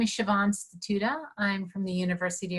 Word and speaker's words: Siobhan: Siobhan, am I saying it correctly? Yes, hi. Hi, everyone. My name is Siobhan Statuta.